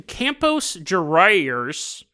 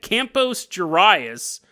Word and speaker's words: Campos Gerais: Sorry, it's not even close to how you pronounce it. I don't even think there's any word that's pronounced like that. It's almost like I got lockjaw in the middle of saying that.